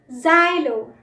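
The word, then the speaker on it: xylo: एक्स, जाइलो। जाइलो याद रखिए इसकी प्रोनाउंसिएशन ज से शुरू होती है, एक्स से नहीं।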